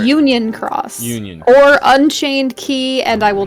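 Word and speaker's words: χ: that unchained p is supposed to be like caught like the letter pi but pronounced key because of reasons yeah anything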